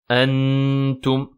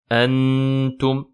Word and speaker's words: أَنْتُمْ: Attention à ne pas le prononcer. أَنْتُمْ. Ne pas faire de idhar. On ne dit pas أَنْتُمْ. Non, mais plutôt أَنْتُمْ. Et vous remarquez bien que la runna est amincie. Et pas antum.